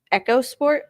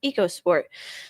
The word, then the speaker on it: EcoSport: Wait, is it actually pronounced Echo Sport? I thought it was Eco Sport.